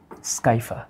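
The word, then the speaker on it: Scypha: উচ্চারণটা হবে Spongilla স্কাইফা, Spongilla স্কাইফা, Spongilla স্কাইফা, Spongilla স্কাইফা।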